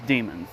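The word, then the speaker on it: daemons: but apparently it's just demons the a is silent now obviously this will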